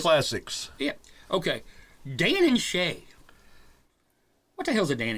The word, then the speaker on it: Shay: Dan and It's not Shay. country music. What does Shay rhyme with? Play. Clay. Put a G and take the C off.